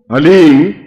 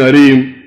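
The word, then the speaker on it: ह्लीं: वो बोले ओम हलीम, बस ये हलीम शब्द बहुत ध्यान से उच्चारण करने देना, HALEEM, हलीम। कोई बोले हरीम, कोई बोले हीम, तो कुछ फायदा नहीं होगा। हलीम, हलीम, ह आधा है, ओम अभी बोलना, ओम हलीम बगलामुखीम सर्वदुष्टा नाम।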